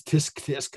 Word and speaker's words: tsk: I went down to the store and I did this, and your mother says, "Tsk." And we spell it T-S-K. No one ever actually says tsk tsk.